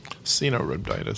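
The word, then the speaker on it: Caenorhabditis: Can you pronounce the full name for C. elegans? Cenorhabditis.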